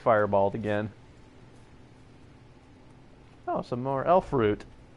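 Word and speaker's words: elfroot: again Oh some more elf root rhymes with loot okay go back to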